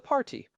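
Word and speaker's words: parti: The one that sounds like a party, but apparently is not. It is spelled P A R T I. The party pronounced par.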